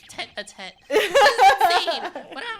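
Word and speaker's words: tête-à-tête: could have this little Titi a Titi this is pronounced t a tet this is insane what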